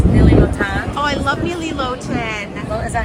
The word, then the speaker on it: Nili Lotan: Oh, I love Nili Lotan.